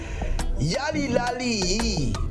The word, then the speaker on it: Yalilaliyi: And I had to make sure that I know how to pronounce the title of the song. Jemax Yalilaliyi.